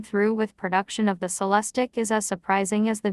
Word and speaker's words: Celestiq: two motor odd system the celestic pronounced cell less tick will be handcrafted at